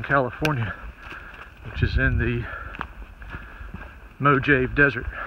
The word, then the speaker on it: Mojave: which is in the Mojave Desert. Now, I know it's Mojave, but if you're a Jerry Clower fan, he pronounced it Mojave.